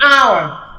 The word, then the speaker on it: hour: begins with the o sound an honor an hour an honest man so you realize that the H here is silent the H sound is silent so this